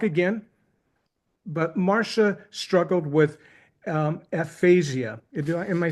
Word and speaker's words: aphasia: But Marcia struggled with aphasia. Am I saying that correct, Marcia? Is it aphasia? Is that how you pronounce the stroke that you had?